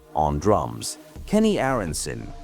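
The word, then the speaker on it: Aaronson: Kenny Arensson, pronounced AR on Sun on bass.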